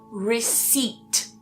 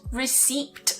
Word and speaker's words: receipt: For example, receipt. So that P is silent there, not receipt. I hear a lot of students saying that.